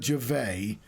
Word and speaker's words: Gervais: Ricky to face Noah Gervais not your face it's spelled your vase but it's Gervais because he's uh American and therefore has the French pronunciation um and he did